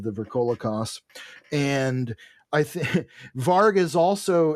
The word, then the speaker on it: varg: In Germanic, it's it's pronounced varg, but it's w a r g versus v a r g, which means wolf or in some cases more accurately watchdog.